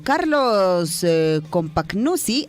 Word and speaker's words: Carlos Compagnucci: Carlos Compagnucci, así se pronuncia, tras su presentación como DT de Universitario,